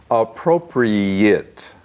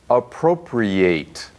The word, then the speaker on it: appropriate: talked about this before appropriate a te at the end is pronounced it not eight adjectives and nouns with